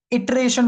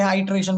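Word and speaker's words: iteration: इटरेशन बोल लेते हैं, आइट्रेशन बोल लेते हैं, अप टू यू। मैं इसको आइट्रेशन ही प्रोनाउंस करता हूं।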